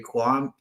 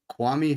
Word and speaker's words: Kwame: In 2003, Kwam Harris, pick 26, offensive tackle, Stanford. Kwame Harris.